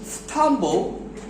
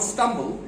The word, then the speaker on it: stumble: ওকে, others, দেখো silent, others may, not may, it's may, others may stumble, not stumble, it's stumble, কোথায় stress দিচ্ছি দেখছো?